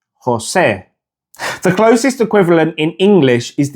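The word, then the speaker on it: José: So the correct pronunciation of Jose is Jose. Jose. The closest equivalent in English is the E sound in the word bed, but it's not exactly the same. The Spanish E is very short and sharp.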